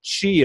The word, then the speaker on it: Qi: And here's what qi is. It's spelled Q-I.